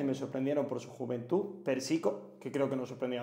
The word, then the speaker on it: Persico: Persico, que creo que nos sorprendió a todas, o Pérsico como lo he escuchado, todavía no sé cómo se pronuncia. Sí, es Pérsico, Es Pérsico, Pérsico, ¿verdad?